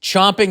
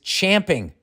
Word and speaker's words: champing: I hear it muttered the common saying that is used incorrectly is chomping at the bit is that not how you say it that's how I say it what most what most don't know is that the actual saying is champing c-h-a-m-p-i-n-g champion at the bit and it originates